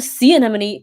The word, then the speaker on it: sea anemone: So example would be clownfish and sea anemone.